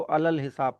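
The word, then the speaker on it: على الحساب: यहाँ पे आएगा अल, जैसे अली अल हिसाब लिखा हुआ है, तो अली अल हिसाब को अल हिसाब पढ़ा जाएगा। वो अली का जो छोटी ये है वो साइलेंट हो जाता है।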